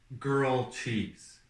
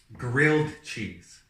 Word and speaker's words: grilled cheese: So, I used to think that the way to pronounce this certain thing was called girl cheese. Okay? Oh, geez, okay. So, when I was around 8, I heard grilled cheese, okay?